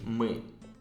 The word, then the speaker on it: мы: Yes, so it's like a letter U. And can you pronounce it again? Мы.